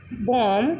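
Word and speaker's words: bomb: तो अगर किसी स्पेलिंग में बी के बाद एम आता है, मीन्स बी के बाद एम आता है, तो वहाँ पर बी साइलेंट हो जाता है। For example com, बॉम, कॉम, थम।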